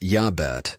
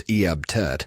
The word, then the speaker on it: Iabet: Pronounced Yabet or sometimes Eabt.